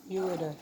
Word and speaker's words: ureter: Ureter, this one. Or you can pronounce it ureter. Either way, ureter or ureter.